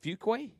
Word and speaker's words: Fuquay: How do you pronounce that? Is it Fuquay?